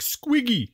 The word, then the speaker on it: Squeeg: Squig, squig. Gotta swallow the E's in that one. Squig, squig. You gotta push them out.